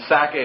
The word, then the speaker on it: Sacae: the Sacae was, again, I just picture the word Isaac, and Sacae is S-A-C-A-E. It has the syllable of sac, Isaac or Itzhak right in it.